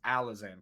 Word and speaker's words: Alizan: Am I pronouncing your name right? We just want to make sure we have it. It is Alizan, correct? Yes, yeah.